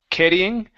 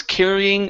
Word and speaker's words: carrying: is the word carrying give me a good R here instead of caring Okay carry okay see so he was carrying a bag full fo